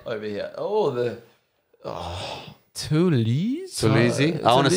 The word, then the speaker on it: Toulouse: Oh, the Toulouse.